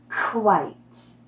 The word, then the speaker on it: quite: It sounds like the color white with the k sound. Repeat after me. White. Yes, now add the k at the beginning. Quite. Quite.